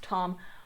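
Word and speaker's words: Thom: Obviously, her brother's off learning to be a sorcerer, so Throm's over there. And yes, for some reason, whether it's pronounced Tom or not, I've always, in my head, I say Throm because it's spelled T-H-O-M.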